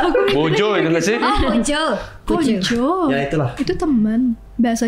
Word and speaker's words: kanca: Oh, Konco. Ya itulah. Itu teman bahasa Jawa. Konco, Kunci itu kanca. teman. Apa ya tulisannya Tahu sih. kanca tapi bacanya konco.